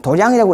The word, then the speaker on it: 도량: 예, 도량이라고 읽습니다. 이게 원문대로 읽으면 도량이라고 읽는데, 도장이 어디죠?